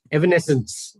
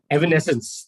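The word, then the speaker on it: evanescence: it's not effort sorry evan essence yeah yeah yes sir yeah i'm sorry i read it as effervescence which obviously is a different meaning altogether evan essence the right pronunciation i just mentioned evan essence is a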